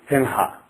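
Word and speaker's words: सिंह: So, if you have Simha, basically the correct pronunciation is, think as if you are going to pronounce Singa. And then when you say Sing, just before you are about to say Ga, instead of saying Ga, say Ha. Otherwise you will just end up saying Simha.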